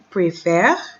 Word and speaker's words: préfère: So see the E is pronounced different.